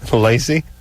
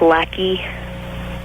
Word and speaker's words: Lacey: Lacey? Hello? You're 19? Yeah. What's up? Okay, actually, it's pronounced lackey.